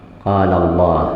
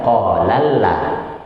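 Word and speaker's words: قال الله: Nah, dibuat jadi tebal lidahnya. Qala Allah, bukan qalalla. Nah, harus seperti itu kan? Qalalla. Tapi qala Allah.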